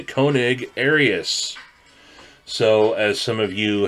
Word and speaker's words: Koenig Arius: final review of the konig arius that's right you heard me say it correctly the konig arius so as some of